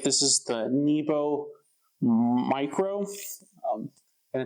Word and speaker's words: Mycro: This is the Nebo Mycro, and it's the 500 lumen one, and that's spelled M-Y-C-R-O.